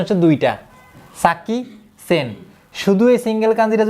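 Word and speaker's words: 先: এই যে এটার উচ্চারণ দুইটা, একটা হচ্ছে সাকি আর একটা হচ্ছে সেন। তাহলে কি আমাদের দুইটা মুখস্থ রাখতে হবে? হ্যাঁ দুইটাতে একটা কাজ বলেছে। হ্যাঁ হ্যাঁ হ্যাঁ হ্যাঁ, এই কাঞ্জিটার উচ্চারণ দুইটা, সাকি, কখনো কখনো সাকি, কখনো কখনো সেন।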